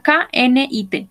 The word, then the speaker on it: knit: Esta es una K, N-I-T. Se pronuncia knit.